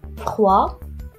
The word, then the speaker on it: froid: Par exemple, froid au féminin devient froide. Alors on entend le son D.